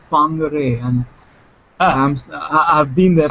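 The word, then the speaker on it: Whangārei: first of all John it's not pronounced Wanger because apparently the W is silent it's pronounced fanger and I'm I've been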